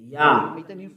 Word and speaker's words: Yah: Yah. According to the Hebrew. When you see this word, it is read Yah in Hebrew.